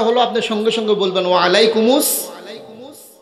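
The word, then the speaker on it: وعليكم السلام: আপনি সঙ্গে সঙ্গে বলবেন ওয়ালাইকুমুস আসল উচ্চারণ হলো ওয়ালাইকুমুস সালাম এটা বলবেন ওটা ওয়াজিব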